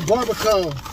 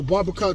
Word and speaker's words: barbacoa: And this right here, this is the barbacoa, which is lamb combo. Hey, man, you wanna open up? Oh, barbacoa tacos.